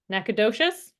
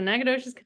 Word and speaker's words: Nacogdoches: a little, and Barry is currently lives in Nacogdoches, is how you say it. Hey, nice job. Yes, well done. Thank you. I was a little bit nervous about pronouncing that correctly. So Nacogdoches, Texas.